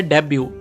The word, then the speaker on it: debut: Next word है डेब्यू, DEBUT, डेब्यू। यहाँ पर टी साइलेंट है, इस चीज का आपको ध्यान रखना है।